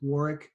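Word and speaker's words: Warwick: like to engage with Warick and Crucible leadership on LinkedIn that's at War Fairfax that is with the silent W in the middle w r wi K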